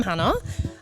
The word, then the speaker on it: Hannah: no uh well I'm Hannah um as stated rhymes with Anna um and banana and I am currently